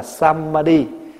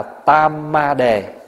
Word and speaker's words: samadhi: Chữ tam muội là tiếng phiên âm, còn cái chữ nguyên thủy là samadhi hay là samadhi, tiếng Phạn đọc là samadhi, mình đọc là tamadhi, hay là có chỗ phiên âm là tamabhadhi.